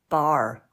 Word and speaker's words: bar: were were yeah ball bar how do you spell that word b-a-r yeah you wouldn't know that from the British pronunciation would you the r is completely dropped so it's a hard